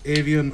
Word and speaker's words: Aoibheann: Yeah, the word is avian, and it's spelled AOIBHEANNS, and that's to 50300, and you can go onto the Facebook page and give it a like as well.